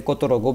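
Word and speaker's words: которого: Katorogo This they actually try to they pronounce this last go as go sometimes. So the Russians will write Katarova, but I would say Kotorogo because that's how you're writing it.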